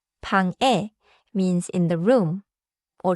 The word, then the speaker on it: 방: So, if I say, 방구, I added something that was not there. 맞아요. 방 is one syllable. 방구 is two syllables, and it changes the sound a lot.